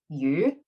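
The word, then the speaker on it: 魚: And then, but when you say the word a little bit differently, so if you pronounce it slightly differently, it's the word fish is yu.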